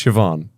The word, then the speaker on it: Siobhan: That's nice, but it's Siobhan.